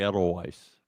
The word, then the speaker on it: Edelweiss: It's probably No, it's pronounced absolutely Edelweiss.